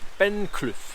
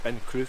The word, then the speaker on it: Ben Cleuch: So today's walk is up Ben Clough. I think that's how you pronounce it, Ben Clough or Cleuch anyway.